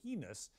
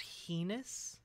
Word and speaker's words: heinous: act of terrorism so heinous it demanded a massive military response wait is it supposed to be pronounced heus I I've have never heard that before in my life heinous okay no he's just